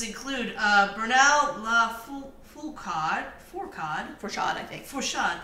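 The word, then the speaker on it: Lafourcade: Fourcade, that's right. That is the right way to say that.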